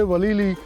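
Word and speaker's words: Walili: किया हुआ है कि इन्होंने फिर इसको वलीबिलिस कहना शुरू कर दिया है कि टूरिस्ट से वलीली प्रोनाउंस नहीं होता था सही।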